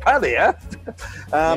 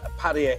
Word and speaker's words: Pattaya: Pattaya, and at least we say it correctly. We don't say Pattaya, right? Pattaya. Oh, Pattaya and Pattaya. As soon as someone starts saying Pattaya, I stop listening to them, really.